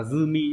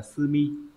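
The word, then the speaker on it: 済み: Ghép vào thì đọc là zumi chứ không phải là sumi.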